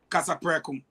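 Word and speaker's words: Kasapreko: languages or whatsoever but the name is casaprekum and it's spelled k-a-s-a-p-r-e-k-o so liberians one who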